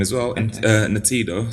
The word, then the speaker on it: Ntiedo: Natido, so it's spelled Ntiedo.